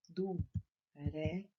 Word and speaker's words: durex: Durex. Na apostila de vocês está faltando X. Completa com X, porém na hora de ler é como se fosse um C e um S.